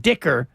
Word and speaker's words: Dicker: And you look at, like the best kicker in football by percentage, Cameron Dicker. He missed just one field goal. Rhymes with kicker.